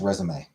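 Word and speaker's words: résumé: It's spelled resume, but it's pronounced resumeé because English is weird.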